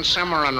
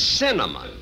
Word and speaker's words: cinnamon: a half a dozen simran rolls you still can't pronounce it can you look it isn't Simran it's cinnamon now let me ask